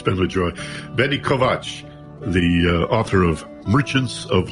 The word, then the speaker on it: Kovacs: And I'd like to mention that your name Kovacs is spelled as if it were Kovacs, Kovacs, but it's pronounced Kovacs.